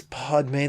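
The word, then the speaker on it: padme: mammals and clever primates the fourth syllable pod rhymes with padre and the fifth syllable may rhymes with the month of may together as pod may they form the sanskrit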